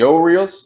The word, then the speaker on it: Orioles: don't sound you don't you don't pronounce uh the orioles the o reels you know with a little bit of oh little bow and o um that that's that's not going to sit well with them and i had to